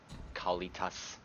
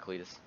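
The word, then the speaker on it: Kalitas: remote call it is I like I say his name Kali cos not Cletus honestly the 6/6 token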